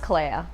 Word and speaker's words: Clea: My name is pronounced Clea, like Princess Leia, but with a C in front.